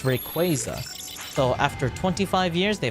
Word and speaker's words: Rayquaza: that was correct was the way I pronounced Rayquaza. A lot of people were apparently pronounced as Rayquaza. Nuh-uh. That doesn't make sense. It sounds disgusting. It's Rayquaza.